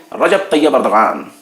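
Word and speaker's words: Recep Tayyip Erdoğan: तुर्की यानी रजब तैयब एर्दोगान, उनको अंग्रेजी में वहां की लैंग्वेज में रिसेप तैयब एर्दोगन बोलते हैं, लेकिन उर्दू और अरबी वाले जानते हैं कि कैसे प्रोनाउंसिएशन करना है, वो तलफ्फुज को ठीक तरह समझ लेते हैं।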